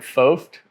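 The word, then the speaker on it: Foucht: stuff too yeah so my name is foft um it's spelled f-o-u-c-h-t but uh I've corrected everybody my whole life on the pronunciation of that um but I'm used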